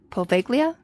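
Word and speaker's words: Poveglia: Good luck pronouncing it cuz I wasn't going to attempt it. No. Yeah. It's paga. Paglia.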